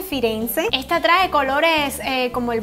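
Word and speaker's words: Firenze: morados vamos a ver Florencia que en italiano se dice firence esta trae colores como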